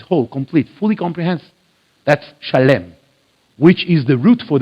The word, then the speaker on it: Shalem: called the city of shalem shalem you know it from your bible in english as salem s-a-l-e-m salem but actually it should be pronounced shalem right that's genesis 14